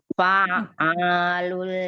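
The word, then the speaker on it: فعال: Ain tasdidnya, ain yang pertama sukun, ain yang kedua berharokat fathah. Nah, ayo ulang lagi sekali lagi. Fa'alul lima yurid.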